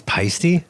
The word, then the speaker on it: Paiste: cymbals Paiste yeah everywhere so what's good its Paiste that's how you say it yeah holy [